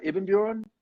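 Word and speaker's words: Ibbenbüren: so you guys you guys are from uh ebenbjorn did i say it right yeah and uh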